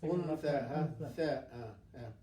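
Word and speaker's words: أنثى: Untha. Yes. Untha with tha. Untha. Because the untha will move the tongue from the upper part to take it between the teeth without touching the teeth.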